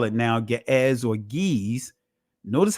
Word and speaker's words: Ge'ez: Notice how it's going to sound, because Ge'ez, or which they call it actually Ga'az, they call it now Ge'ez or Ge'ez.